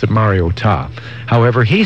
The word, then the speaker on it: Mariota: It's Mariota. All right, then. All right? There we go. Scott, how do you pronounce it?